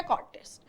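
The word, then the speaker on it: cortege: Next आता है कॉटेश, इसका प्रोनाउंसिएशन है कॉटेश।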